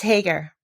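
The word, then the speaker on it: Haigha: happy his name is hager he pronounced it so is to rhyme with mayor i love my love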